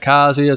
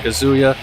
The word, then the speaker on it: Kazuya: why I'm saying Kaza some people pronounce it kazia some pronounce it kazuya Tekken has never been